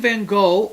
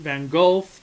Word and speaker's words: Van Gogh: and tension number three vincent van gogh or vincent van golf depending on how you decide to pronounce it or where you're located at is one of my